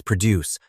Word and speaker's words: produce: Our second word is produce but here we are using it as a noun with the stress on the first syllable which refers to all the fresh fruits and vegetables in that specific department.